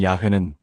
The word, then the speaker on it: 야훼: 하나님의 이름 야회는 사실 말로 발음하는 이름이 아니라 숨결로 내쉬는 이름이라는 겁니다. 한번 따라해 보세요. 숨을 천천히 들이쉬어 보세요. 야. 그리고 천천히 내쉬어 보세요. 회. 야. 회 들이쉬고 내쉬고 이게 하나님 이름의 소리와 비슷하다는 거예요.